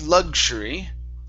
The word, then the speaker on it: luxury: So, um, the word luxury. Luxury. Yeah. So, it's a G sound first. So, we say luxury. So, it's a a G then an sound. Luxury.